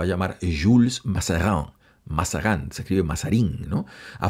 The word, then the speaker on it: Mazarin: ahora se va a llamar Jules más cerrado mashadán se escribe mazarín no a francesa su nombre completamente